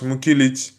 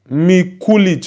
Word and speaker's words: Mikulich: Um, Mikulich. Okay. Sorry, I was pronouncing your name wrongly earlier. I was pronouncing your names wrongly.